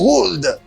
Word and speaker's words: would: Mais quoi c'est langue ça vient dire would. C'est would. You do not pronounce L in this. You say would, like will in this.